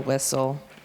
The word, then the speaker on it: whistle: And then we go into STLE, thistle, castle, whistle. We know that it says soul, and then that T is silent.